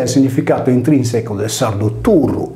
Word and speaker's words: Turru: In realtà, osservando una corretta pronuncia con la doppia R senza la desinenza S del nominativo, perché il sardo non possiede i casi del greco e del latino, il termine si legge turru o zurru.